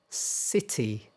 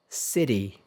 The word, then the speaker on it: city: Um sometimes um it sounds a little like a d.